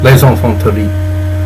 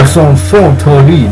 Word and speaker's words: Les enfants terribles: Les enfants terribles. Really? Yeah. Okay, so you remember how Liquid used to say it? No, I know. Les enfants terribles.